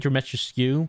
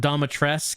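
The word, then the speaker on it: Dimitrescu: worship that woman demetriscu i keep saying dramatuscu but the game pronounced it domitress and everyone says that's wrong it's supposed to be dimitrisku maybe not qq dimitrisku like you're supposed to pronounce the u the game doesn't so there's no right or wrong answer pronounce it however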